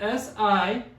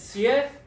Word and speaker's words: siete: It's spelled S-I-E-T-E. And this one is also 2 syllables. It's siete. So this S-I-E is pronounced sie, not si, like it is in English sometimes. It's siete.